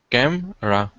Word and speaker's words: camera: photography then camera camera oh camera two syllables camera camera cam ra camera camera close that e is silent in the middle um but good and